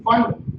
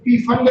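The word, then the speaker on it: Pfund: फंड पी silent होता है बच्चे इसमें, इसको पी फंड नहीं बोलते हैं, इसको फंड बोलते हैं, फंड लाइंस।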